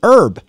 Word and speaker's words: herb: um herb herb herb why don't we say the h well it's a french loan word well yeah but it's